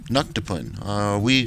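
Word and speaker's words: Tnuctipun: I remember a race of sentient beings, Bandersnatchy, genetically engineered by the, here's something, the Tanuktapun, or as it's really pronounced, Nuktapun. I kind of like pronouncing it Tanuktapun.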